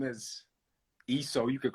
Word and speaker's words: ESO: ESO is the right way on how to say it.